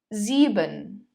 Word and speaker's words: sieben: The last diphthong is the letter combination I and E. It is pronounced as I. Zum Beispiel, for example, das Bier, die Biere, das Bier, die Biere. Viel, viel. Sieben, sieben.